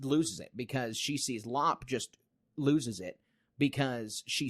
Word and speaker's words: Lop: The rabbit is Lop, and I've been saying it wrong.